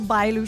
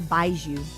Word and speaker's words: Bailu: My sweet little Bailu. She's my favorite character. I always mispronounce her name. I think of Baiju, like the alcohol.